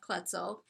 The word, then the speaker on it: Kloetzel: and searchs for Jeff kutzel which is k l o t z l cor yes I know and I I learned how to pronounce it because Cheryl Garcia told me it rhymes with pretzel so correct that's the